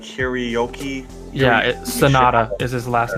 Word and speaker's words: Hiroyuki: A lot of people call him Henry, but it's like Hiroyuki.